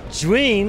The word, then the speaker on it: Zhiyun: I'm here at ZHIYUN. ZHIYUN. I pronounced that for years wrong.